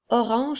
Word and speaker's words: orange: Orange s'écrit O, R, A, N qui font le son en, G, E. La lettre G fait le son J. Alors, nous avons O, R, ange qui fait orange.